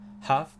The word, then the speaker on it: half: Half past 2. Petite remarque, le L de half ne se prononce pas. Il est muet. Donc on dit half.